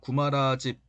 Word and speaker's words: 구마라집: 당시 서역에는 호삼은 구마라집 혹은 구마라십이라고 발음하기도 합니다.